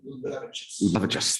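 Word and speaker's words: Liulevicius: Vejas Luluvicius, did I pronounce that correctly? Luluvicius, thank you. Okay, just got the stress wrong.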